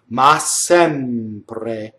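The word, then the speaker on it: ma sempre: all okay going on ma is another strong mono syllable so if you notice I've doubled the s max sempre you see that's how you say it ma sin pray notice that the M gets a little full nation because it's such as a P notice that the are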